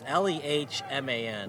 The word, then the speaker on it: Lehman: His high school was Bronx Aerospace, and he is a transfer from Lemon College. And he's anything but a Lemon soccer player. It's Lemon College. Another free kick. Probably pronounced Lehman. It's Lehman. Lehman.